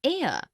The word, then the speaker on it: heir: an inkpad, also an heir, an honest, an hour. Because the words heir, honest and hour begin with a vowel sound, as the initial consonant H is not pronounced.